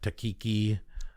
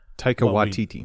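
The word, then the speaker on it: Taika Waititi: Takiki Taika Watiti.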